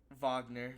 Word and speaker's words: Wagner: do you remember yeah like Wagner Wagner but what's his name like these are W's are V's in German that's why Dirk Douglas